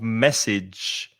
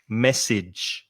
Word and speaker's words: message: so text message okay be careful of the pronunciation of message the f the second vowel sound is message message yeah so it's a